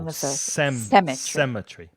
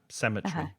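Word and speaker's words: cemetery: are sem tree SE the stress the stress is on the first syllable cemetry cemetry cemetry that's it question from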